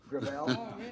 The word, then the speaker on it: Gravel: thank you uh Senator gravel with all due respect let me correct I pronounce it within my family grel grael it's a French name thank you uh I